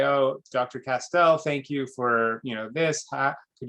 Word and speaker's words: Castel: You've heard it, so I'll tell you my name is Castel. It rhymes with pastel. It often gets confused with castle.